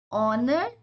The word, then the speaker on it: honor: are, an, hair, an, honor, etc. So this is your first recalling rules. That is, H is silent and the next vowel sound is going to be your pronunciation starting with of that word.